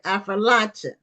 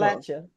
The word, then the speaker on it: Appalachia: Okay, Appalachia. It's like I'll throw an apple at you. So Affrilacia. it's almost like I it's four like that. syllables. Appalachia. It's four syllables.